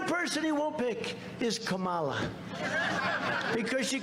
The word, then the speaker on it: Kamala: tried to interrupt him know my name was kamala like comma i remember that like a comma right h1n1 that's right